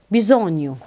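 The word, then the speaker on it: bisogno: قلنا الجي لو جت بعديها ان هتبقى تنطق اي. بيزونيو.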